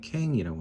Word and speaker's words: Kang: 그래서 거기서는 캥이라고 합니다. 발음이 캥이라고 할 수밖에 없죠.